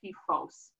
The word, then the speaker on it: PFOS: And I try to pronounce that PFOS.